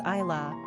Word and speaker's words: Ayla: If you do pronounce this name as Ayla, then it's basically similar to Isla, another name of totally separate etymological origins.